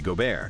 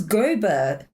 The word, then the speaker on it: Gobert: latest and current ongoing feud is with Rudy Gobear. Oh, the way he had him in the headlock. Oh, go. That's how you say his name. I thought it was Gobert.